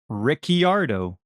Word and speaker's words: Ricciardo: it's said you just yes so it's daniel ricciardo yeah i think it's actually spelled like ricky rdo yeah like almost like ricky